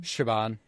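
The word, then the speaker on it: Siobhán: How do you pronounce her name? Shaban.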